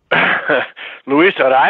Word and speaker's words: Luis: in the big leagues Louisa is that is is I think the way they pronounce it in Venezuela and Louisa is is